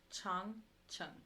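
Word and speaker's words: 长城: Chang, Chung. Chung, Chung. Mm-hmm. Okay. Yeah, because the A is like the A in far, so Chang, and then the E is like in the, so Chang, Chung.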